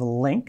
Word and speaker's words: LINQ: at the overview of Link it's pronounced link link and I'm just